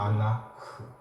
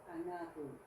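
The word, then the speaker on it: אֲנָךְ: 여기 점이 없기 때문에 흐라고 발음하는 거예요.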